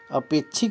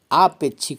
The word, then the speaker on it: आपेक्षिक: फिर आपेक्षिक आपे छिक अपेक्षिक नहीं आपेक्षिक होता है फिर आगे देखिए इ